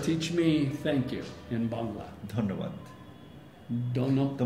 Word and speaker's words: Bangla: learn some Bengali and how do you pronounce Bengali bangali Bangla so see I can't